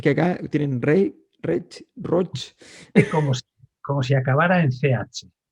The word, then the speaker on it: Roig: sí, que Tiene el hay, mismo mecanismo, es R-O-I-G, se dice Roch como si sí, acabara en CH.